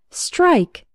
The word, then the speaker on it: strike: word of the day strike from espresso English dotnet first let's work on the pronunciation STR almost sounds like there's a CH sound in the middle like strip strip it's